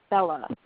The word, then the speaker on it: Bella: So if her name were Ginger, you might say Kathy or Bella with the stress on the first syllable.